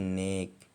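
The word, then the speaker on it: knock: यदि किसी वर्ड में के एन एक साथ हो तो के साइलेंट हो जाता है, इसे अगर के एन कभी भी साथ होगा तो के साइलेंट हो जाएगा, जैसे कि नी मतलब घुटना, नो मतलब जानना, नॉक मतलब ठकठकाना, नीड मतलब घुटना।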